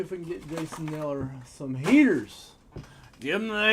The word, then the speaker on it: Kneller: Bowman's Best U for Jason Kneller. The K is silent.